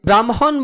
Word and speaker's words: ব্রহ্ম: ব্রাহ্মণ বানানে হ এর সাথে ম যুক্ত হওয়ায় আমরা MH দিয়ে উচ্চারণ লিখেছি।